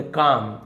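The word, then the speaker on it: calm: with काम शांति से L silent है कालम नहीं बोलेंगे काम वाइज आइज और बड़े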